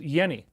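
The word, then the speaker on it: Jenny: Hans Yenni. That's how you pronounce the name. Even though it's a J, it's pronounced Yenni.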